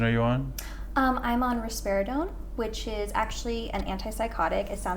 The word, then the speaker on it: risperidone: How do you say it? Risperidone, or you can say risperidol. Risperidol, risperidone. Risperidone. Don't, but with an N.